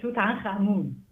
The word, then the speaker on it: Tutankhamun: I pronounce it Tutankhamun.